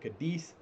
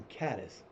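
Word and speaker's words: Cádiz: I live in a town called Katis. C a d i z. There's a team in Spain called Kadus. They call it kadus. They call it kadis. I've also seen it in the Google things saying it the same way I do. So everybody's like you're from Kadis. No, I'm not from Kadis.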